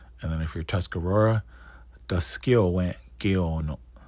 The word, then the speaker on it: Taskalowe:n ge:ono: Oneyo:tka If you're Mohawk, Ganye:t ge:ono Ganye:t ge:ono And then if you're Tuscarora, Taskalowe:n ge:ono Taskalowe:n ge:ono All right.